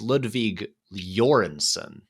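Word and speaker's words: Ludwig Göransson: someone and um and apparently his name is pronounced uh it's it's Ludwig jorenson uh we're all all us Americans are saying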